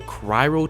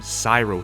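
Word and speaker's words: cryo: giving me an additional cryro turret to throw out i said it right this time because in an earlier video i made using this skill i kept calling them cyro turrets so shout out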